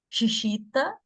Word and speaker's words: Chichita: com uma argentina, a Chichita, né? Kikita, mas como ela é argentina, eu acho que a pronúncia seria Chichita.